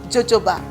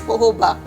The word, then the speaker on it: jojoba: face or so guys if you hear me pronouncing it as jojoba please forgive me it took me a while to actually find out that it's pojoba even as much as